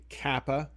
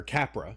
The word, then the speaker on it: Capra: Uh Frank Kappa um was just an amazing uh or Capra, sorry, Capra, make sure you pronounce the R in there, was an amazing director.